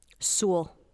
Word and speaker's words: Sewell: Sewell. Like Zool.